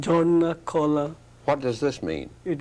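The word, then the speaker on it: Jharna-Kala: Do I pronounce it correctly? Jarnacola? Yes, it's correct. It's called Jarnacola.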